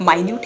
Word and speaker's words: minute: जिसे मिनट भी कहा जाता है. MINUTE, मिनट। इसमें स्पेलिंग दोनों का सेम है, एक माइन्यूट है एक मिनट है, स्पेलिंग बोथ आर द